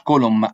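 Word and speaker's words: column: كولوم دي يا شباب بتكتب كده كولوم، ايه ده كولوم بس ال ان سايلنت، ال ان ما بتتنطقش، كولوم بالميم.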